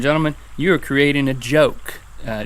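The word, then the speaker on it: Goke: And ladies and gentlemen, you are creating a joke. Uh, G O K E, but it's pronounced with a J. Like GIF.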